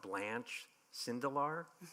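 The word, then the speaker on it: Blanche Sindel: about so if and I'm not going to pronounce her name right but if you can tell us about blanch cindel and the Fishbowl you nailed her name yeah you did got it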